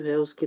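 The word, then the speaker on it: Haus: Pronounce नहीं कर रहे, लेकिन अगर हा अगर वर्ड के शुरू में है, ठीक है, फॉर इंस्टेंस हाउस, ठीक है, तब हम हा प्रोनाउंस करेंगे, ठीक है।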